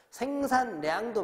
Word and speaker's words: 생산량: 생산량도 마찬가지죠. 생산 다음에 량인데 생산하고 량이 끊어진다고 생각할 수 있으니까 여기는 모두 리을이 니은으로 바꿔가지고 등산로, 생산량 이렇게 발음돼야 되는 거예요.